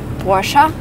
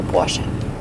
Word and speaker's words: Porsche: warship by the way some americans say porsche which i think is really wrong because the car is produced in germany and in german you say portion if you press in